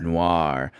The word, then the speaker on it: noir: Our theme this week or this time is Noir Films. I think I'm pronouncing that right, David. It's Noir. Noir films. Noir. Noir. Noir. The O really makes it it turns into a W essentially.